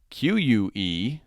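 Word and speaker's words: qué: And then using the QUE, we'll just leave it like it is, put an accent over the E, and that means what, so it is que, not que.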